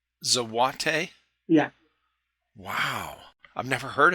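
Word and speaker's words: złoty: of currency so what day is how it's pronounced zawate yeah wow I've never heard of it the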